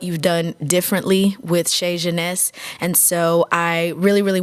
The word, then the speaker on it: Genese: Am I pronouncing it correctly? Genese. Genese.